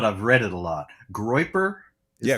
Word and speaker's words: Groyper: Groiper? Yeah, Groiper.